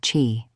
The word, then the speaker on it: qi: At its center is a concept called key, pronounced chi, the vital life force or animating energy that